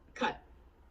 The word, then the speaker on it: cut: The pronunciation of cut has a short U sound, like in cup or bus. It's different from cat, where the A sound is short, but it has a more open sound.